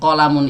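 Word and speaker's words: قَلَمٌ: Jadi qalamun ini bacanya pendek semuanya. Qalamun seperti itu.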